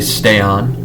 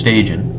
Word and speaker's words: Stajan: They would say stay on. And that was kind of the most interesting thing about him. This stay on. No, it's Stajan. It's not stay on.